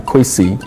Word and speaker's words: Kwesi: So we can see the phonetic similarity between what I put in K-W-E-S-I, Kwesi, and C-U-E-S-I, which most people will pronounce Kwesi or some variant.